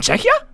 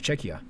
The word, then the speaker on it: Czechia: Czech Republic czechia oh it's actually called freaking czechia I'm sorry for that I didn't know I just don't like I just don't know how to pronounce things but thank you so much for that poll thank you so much chea I didn't know that I really thought it was like ca Japanese English is natural